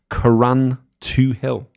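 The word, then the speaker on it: Carrauntoohil: Greg Bradley says, highest mountain in Ireland, how you pronounce it, is, get ready for me to butcher it, Caran 2-0.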